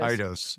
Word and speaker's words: Eidos: Eidos.